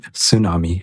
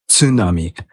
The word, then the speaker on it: tsunami: He would always say, not tsunami, it's tsunami. Tsunami.